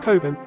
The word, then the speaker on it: Coven: by capability Brown it passes the village of coven Rhymes in cloven and brood rhymes with Rue it passes near to white ladies